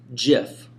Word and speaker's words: GIF: here's his official statement it's a soft g pronounced jiff end of story so steve will height put an end to the debate it is a soft g gif so for all you gif pronouncers i hate to